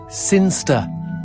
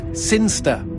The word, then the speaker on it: Sinchester: Sinster. What? It's pronounced Sinster.